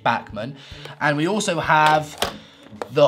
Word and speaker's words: Bachmann: so here we have the Bachmann Henry or Buckman I mean I'm pronounce it how you want I mean I say backman and we also have